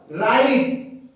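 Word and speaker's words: write: दोस्तों यहाँ पे देखिए प्रत्येक आर से पहले हमें डब्ल्यू मिल रहा है। तो यहाँ पे दोस्त हम डायरेक्ट आर यानी र वर्ड को उच्चारण कर रहे हैं, आर का हम उच्चारण कर रहे हैं, डब्ल्यू हमारा कंप्लीटली साइलेंट है।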